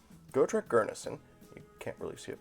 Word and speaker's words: Gurnisson: is uh go trek gurnesson i keep mispronouncing it but i think it's gurneson go track gurnason you can't really see